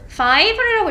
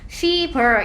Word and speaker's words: fiber: fiber이라고 읽어야지. high 뭐 fever 이런 식으로 읽으면 안 돼.